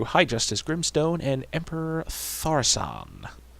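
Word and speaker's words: Thaurissan: Justice Grimstone, and Emperor Tharsan. I think that's how you pronounce it. I've heard it in about 6 different ways. And Thorician. it's definitely not Thorician.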